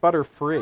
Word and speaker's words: Butterfree: Sorry, I don't speak butterfly. It's pronounced Butterfree.